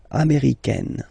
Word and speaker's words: américaine: Okay, it's really open, this AI, américaine.